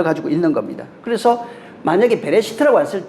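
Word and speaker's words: בראשית: 그래서이 배자가 들어갔는데 이걸 전치사라고 그러는데 이게 이제 베레시트도 그렇습니다. 원래는 그냥 레시트 이렇게 읽어요. 보통은 기본형이거 그래요. 근데 전체는 베레시트라고 읽습니다.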